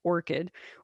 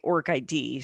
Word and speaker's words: ORCID: open researcher contributor ID which is orchid or I say org ID so that way I spell it without the H because didn't have the h.